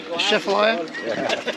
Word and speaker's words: Atchafalaya: We just made it here to the Atchafalaya Basin landing at Turtles. What's it called? Turtles Bay? Turtles something. We're about to go ride an airboat. I like turtles. How do you pronounce that over there? Atchafalaya?